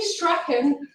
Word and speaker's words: Strachan: uh so billy billy strachan or heather told me how to say it in a scottish way it's strong and he he was